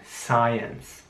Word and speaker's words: science: Hier sieht man, dass das Wort SC geschrieben wird. Es ist aber sehr wichtig, dass das Wort wieder einfach nur wie ein S ausgesprochen wird, also Science. Aber das I ist auch wichtig.